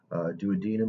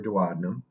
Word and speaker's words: duodenum: We've got the duodenum or duodenum, the jejunum, and then the ileum. Ileum spelled with an E, not to be confused with